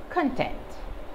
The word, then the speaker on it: content: the table object object content the two different pronunciations are again just based on the stress content is a noun